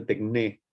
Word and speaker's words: techne: es la noción de tecné en Grecia, en la Grecia antigua. Tal vez la escucharon nombrar alguna vez. Se escribe techne, a ver si la escribo acá para que ustedes la puedan leer. Tecné.